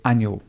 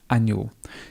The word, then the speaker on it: annual: And if you were talking naturally, you'd say annual. Annual. You could say annual. It could have this extra little syllable. Annual. It's an annual event. You may want to contract it and just say annual. 2 syllables.